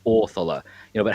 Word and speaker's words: Othala: The stress of the word is placed on the front versus the end. So it's not, you know, it's not Othala, it's Orthala.